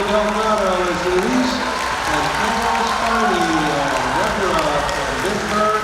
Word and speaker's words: Spinney: By the way, it's pronounced Spinney. There's two N's.